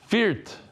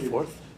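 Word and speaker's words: Fürth: And the Rosh HaKoilol, oy vey, he told me how to pronounce this. Viert, Germany, something like that. Not fourth? Viert? That's how you spell it, that Viert, Germany. Fourth. Your wife's grandfather's from Viert. It's like First, he says. Viert. Yeah, but it's pronounced differently than what it says.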